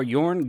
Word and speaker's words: Jorn: the deck tech for yarn god of winter it is pronounced with the y so let's see what